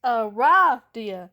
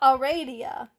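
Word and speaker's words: Aradia: It's pronounced Ah-RAH-dia, not Ah-RAH-dia. It's not Arabian Nights.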